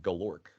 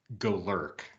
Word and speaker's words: Golurk: that you pronounced it galorek um I I just realized it's probably pronounced Golurk like lurking I'm I'm going with